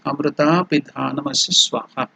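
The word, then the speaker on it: अमृतापिधानमसि स्वाहा: So the pronunciation is Amrita Pidhanamasi Swaha. So, O Amrita, you are the lid covering the food.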